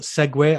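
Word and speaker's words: segue: the podcast today but segway i love using that word it's i've only just realized actually that it's not spelt the way i thought it was it's it's spelt s-e-g-u-e yeah are you thinking of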